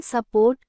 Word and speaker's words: support: So in support, we have s port, with the second syllable stressed in the first syllable becoming schwa.